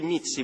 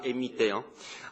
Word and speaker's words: MIT: Pendant le mandat de Fidan, les mythes, je dis mythes parce qu'on les prononce mythes, on ne dit pas MIT, a massivement recruté des ingénieurs,